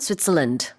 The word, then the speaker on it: Switzerland: 그리고 이제 또 스위스라고 우리 하지만 영어로는 Switzerland. Yeah, so the land is not emphasized.